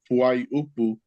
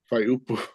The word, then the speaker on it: fuaiupu: Though it's actually pronounced Fuaiupu, but no one really says Fuaiupu. Everyone just says Faiupu.